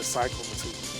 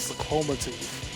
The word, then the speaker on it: Cyclomatooth: I said his name wrong that whole other video. I kept calling it Cyclomatooth, but it's called Cyclomatooth.